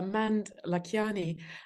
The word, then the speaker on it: Mand-Lakhiani: Yeah, it's man Lakani and it's a little complicated because it's uh half Estonian and half Indian.